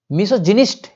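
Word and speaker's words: misogynist: मिसोजिनिस्ट, gynae नहीं है यहाँ पे, गायनी ऐसे पढ़ते, लेकिन यहाँ पे जब बताए थे ना तुम लोग को अभी हम प्रोनाउंसिएशन में, जिनिस्ट है, मिसोजिनिस्ट। मिसोजिनिस्ट मतलब क्या होता है?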